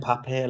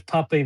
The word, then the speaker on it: Pape: Because there's Because there's Pepe the the Israeli Pepe the story. Yeah, yeah. Sorry. How we How do you pronounce it? Is it Pep? Yeah, just Pep. Pep. Okay. Pep. Very American.